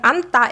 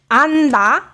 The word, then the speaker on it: 안다: When anta is a verb, base verb that means to hug, then it's pronounced anta with double consonant, tigut. However, when you pronounce it anda, it becomes a different meaning.